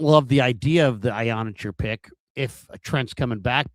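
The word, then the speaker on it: Iheanachor: And it's Ionacher. That's how it's pronounced. And Ionacher?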